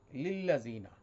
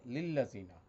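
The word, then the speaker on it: للذين: ওয়া এবং লিল্লাজিনা, প্রথম লাম হচ্ছে লি আল্লাজিনা, আলিফ হজফ হয়ে লিল্লাজিনা, হজফ মানে এটা পড়ে গেছে।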